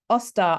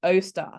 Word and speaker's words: Austar: service center okay so she's pronounced it as Oster I want o star so for me the